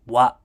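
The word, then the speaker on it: は: Okay, and then we have the particle wa. Okay, so it looks like a ha, but as you can see, it's pronounced wa.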